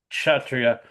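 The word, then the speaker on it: क्षत्रिय: from the head, the the S, the dot below an S is an H, right? Kshatriya. Yeah, you just Okay. pronounce it Kshatriya. It's kind of Kshatriya. like with a K and a S with a dot under it. It's kind of CH, Kshatriyas. That's Okay.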